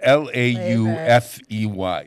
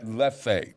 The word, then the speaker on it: Laufey: Her name is spelled L-A-U-F-E-Y. I'm trying to find it in the notes here. Laufey.